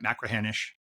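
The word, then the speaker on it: Machrihanish: And I've read about I'm not going to say it right, Macrahanish Dunes. Good job. Okay, I think you nailed it for a Californian.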